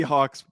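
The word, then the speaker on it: Hauck: the tape on robbie hawk's brother from montana so we talked about robbie hawk he misspelled it but robbie hawk's little brother maybe we're mispronouncing hawk it's h-a-u-c-k i think it's hawk robbie hawk's little brother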